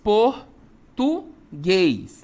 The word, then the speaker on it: português: Português, né? Eu tenho uma oxítona? Tenho. A sílaba tônica é a última, né?